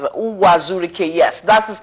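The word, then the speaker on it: Uwazuruike: I mean, I don't know if I pronounce it. Uwazurike, yes, that's his name.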